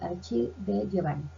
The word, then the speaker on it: Achille De Giovanni: En este caso, Giovanni, bueno, parece que no lo pronuncie bien, pero es Achille de Giovanni.